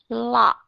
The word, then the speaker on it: lock: Nhưng mà chúng ta đã biết âm CK ở trong này chỉ có một âm duy nhất, đó là âm k. Bởi vậy cho nên khi các bạn đọc thì các bạn sẽ đọc là lock. Các bạn sẽ thấy cái miệng của mình mở chứ cái miệng của mình không có đóng.